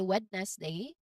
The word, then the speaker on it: Wednesday: Many learners try to pronounce the D here, but it's typically silent. It's always silent actually. It is pronounced as Wednesday with a buzzing sound and a diphthong at the end. Now notice how the N goes straight to the Z sound, right? So that's just how we pronounce it.